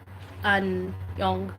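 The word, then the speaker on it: Aonung: So first of all, we know that Anyong, or Anyong, yeah, that's how you say his name because it's A-N Anyong.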